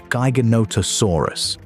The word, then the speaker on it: Giganotosaurus: Gyonotosaurus, pronounced giga note osur us, was longer.